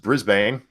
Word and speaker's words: Brisbane: drive you huh real quick Greg says you mispronounced Brisbane and Darren Henry follows up with Brisbane as